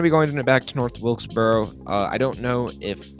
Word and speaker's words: North Wilkesboro: pronounce it but north wilkesboro will say i think that's it wilkes bro i always want to say welksboro but it's wilkesboro i believe and um yeah i